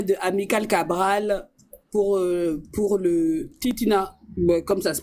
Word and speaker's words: Titina: Ah, C'était une combattante auprès de Amical Cabral pour le Titina, comme ça se prononce.